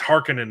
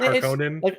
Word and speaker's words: Harkonnen: audiobook in here and in the new movie it's hearkening and I'm like oh I don't like that I just like the pronunciation better just the pronunciation of the name harkonen I like our Conan instead of Harkin yeah like yeah it's